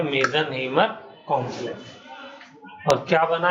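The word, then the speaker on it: Meisenheimer: इस वाले कॉम्प्लेक्स का और हाइब्रिड का नाम है मीजनहीमर। स्पेलिंग देखिए, MEISES, मीजनहीमर कॉम्प्लेक्स। ठीक है, इसका नाम है मीजनहीमर कॉम्प्लेक्स।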